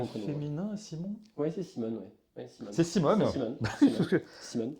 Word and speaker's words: Simon: Simon, quel est ton prénom ? C'est Simon. C'est Simon. Ouais. D'accord. Cinq lettres. Cinq lettres. Voilà. Deux syllabes.